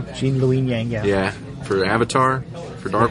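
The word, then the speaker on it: Gene Luen Yang: best rider was Jean lyang say his name jeene L Yang yeah for avatar for Dark Horse I suppose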